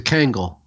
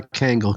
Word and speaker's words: Kangol: And of course, it's a Kangol, so it's or as you say it, urban Kango. There's no L. The L is silent.